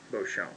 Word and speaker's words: Beauchamp: If he pronounces it, it's probably Marjon, but that's what it's spelled. But Beauchamp is definitely Beauchamp.